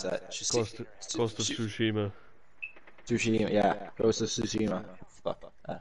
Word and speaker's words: Tsushima: Fuck, I can't pronounce that. Ghost of Tsushima. Tsushima, yeah.